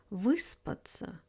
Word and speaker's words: выспаться: And finally, prefix вы is always stressed in verbs and nouns. This one usually surprises learners. For example, выспаться, выкупить, выжить, выбрать.